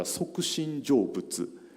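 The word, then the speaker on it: 即身成仏: Japanese pronunciation is a Sokushin Jōbutsu.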